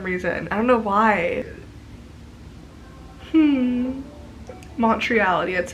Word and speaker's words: Montreality: Montreality, that's how you say it.